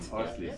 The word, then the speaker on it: Orslis: It's a real pleasure to be here, and I'd like to say thank you to, I can't pronounce this, is it Orslis? Did I get that right? Orslis, yeah.